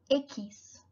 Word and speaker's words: equis: bueno tenemos la equis en portugués sería sis pero en español se llama ekis ekis ekis también tenemos